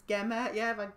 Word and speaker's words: Gemma: Gema? Is this Gema? No. Is it Gemma? It's Gemma. Yeah, I've had Gemma as well.